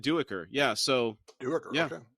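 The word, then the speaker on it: Duiker: when I read it I thought it was duker yeah but he said duecker yeah so yeah right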